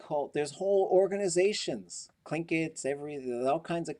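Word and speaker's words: Tlingit: lingits and so but politically now it is spelled with the t pronounced with the k and there's that's tied to like whole there's whole organizations clinkets every there's all kinds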